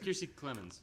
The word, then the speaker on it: Kiersey Clemens: I don't know how you can't pronounce. Yeah. It's Kiersey Clemens.